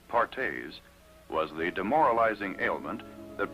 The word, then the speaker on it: Perthes: family another crippling disease known as perthes pronounced partes was the demoralizing ailment